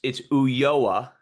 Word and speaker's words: Ulloa: But how do you pronounce your name and why? Well, it's Ulloa.